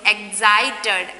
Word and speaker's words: excited: So before we learn the sound of the C is K, but we pronounce the sound of C is here.